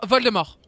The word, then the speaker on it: Voldemort: Hermione pas d'Hermione de Voldemort et parce qu'on prononce pas le thé parce que c'est pas mal de mort comme parce que c'est vol de mort littéralement en français un